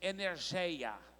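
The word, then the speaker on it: ἐνέργεια: É uma palavra que é pronunciada no grego assim, energeia.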